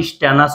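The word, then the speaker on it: stannous: এটাকে বলা হয় স্টানাস উচ্চারণটা আস বলতে হবে ঠিক আছে শেষে ওকে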